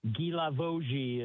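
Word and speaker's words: Guilavogui: Um, Gilavoji is how you say it in French.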